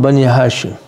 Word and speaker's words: Bani Hashim: Hafiz Mahmud mentioned, Kamru Bani Hashim. The moon, that means the light of the Banu Hashim. Or Bani Hashim, if you say it properly.